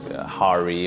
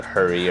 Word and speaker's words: Hari: Like, it's mispronounced all the time, like Hari or Hurry or Harry, you know, which is, I'm not a British wizard, that doesn't make any sense.